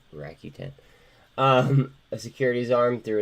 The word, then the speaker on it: Rakuten: I always pronounce that wrong. Rakuten.